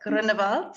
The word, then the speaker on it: Groenewald: My name is Groenewald. Katherine says my surname in German so well, Groenewald.